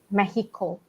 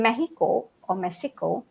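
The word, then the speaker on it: México: Actually, they don't pronounce as Mexico, right? So, yeah. Oh, really? Yeah. The time we were talking to someone during AICI event. Mexico. Right. The X they pronounce as H, Mexico, something like that.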